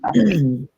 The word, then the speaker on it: Iva: She pronounced it Ivy.